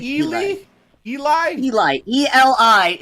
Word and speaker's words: Eli: E-L-I is pronounced Eli.